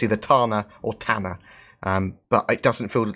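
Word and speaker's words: Tana: Tanner that that is I'm assuming it's pronounced the Reliant Tanner because obviously with with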